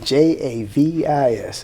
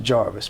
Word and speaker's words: Javis: name her name was javis okay j-a-v-i-s it always gets pronounced jarvis but her name is javis and javis was a